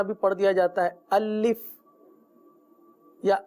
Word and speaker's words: الف: جیسے اس طرح بھی پڑھ دیا جاتا ہے الف یا الیف یا الف۔ یاد رکھیے یہ حرف ہے تو